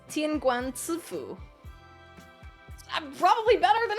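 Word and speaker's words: 天官赐福: You know, it's not Tianguan Sui Fu, it's Tianguan Ci Fu.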